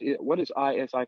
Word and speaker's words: ISI: So tell me let us know first of all, where you are, and what is ISI coaching, or am I not saying that correctly?